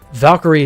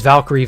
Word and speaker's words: Valkyrie: about a month ago the proper pronunciation of the word valkyrie valkyrie is just the um because valkyrie valkyria you know that's that's the name that it's derived from um it's not valkyria and it's not valkyrie